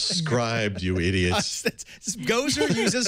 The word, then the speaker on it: Scribd: the chat room they'll tell us are we pronouncing this correctly beer beer there we go that's the beer it's scribed you idiots go or uses scribed everything comes